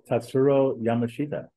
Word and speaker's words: Tatsuro Yamashita: I don't even know if that's the way you pronounce it. Like Tatsuro Yamashita. How do you say that? Tatsuro Yamashita.